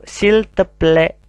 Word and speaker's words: s'il te plaît: Nah ini ada ungkapan yang lain, yaitu s'il te plaît. S'il te plaît. Bukan s'il te plaît ya, tapi ai dibaca e. Ada aksen circonflexe ya, seperti payung, seperti topi kecil.